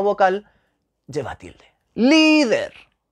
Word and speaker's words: líder: vamos a ver líder líder es una palabra llana la sílaba tónica se lee líder y esa palabra termina